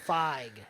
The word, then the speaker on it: Feige: I don't want to mispronounce his last name. Kevin Feige. What's his name? Kevin Feige. Feige, that's what it is.